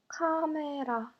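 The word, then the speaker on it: 카메라: Camera, camera. R sound is replaced with the sound L.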